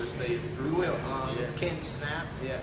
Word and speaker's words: Snapp: I'm like, no, it's like snap your fingers. Right. Right. Snap your fingers. So or we got the page Ken Snapp for mayor of Detroit on Facebook too.